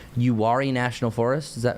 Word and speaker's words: Uwharrie: say this, so correct me if I'm wrong, Uwharrie National Forest, is that how you say it? Yeah. Yeah, so the Uwharrie National Forest, since they do have some higher